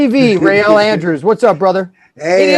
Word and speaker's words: Real: weird name everybody wanted to call me rey or raoul or and she was like it used to embarrass me as a kid because she's like like she's having no his name is real say it right right you know what's